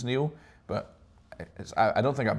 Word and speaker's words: Niall: It's weird because like in Ireland and England it's Niall. I'm thinking only in Scotland it's Neil, but I don't think I've met another Neil spelt my way.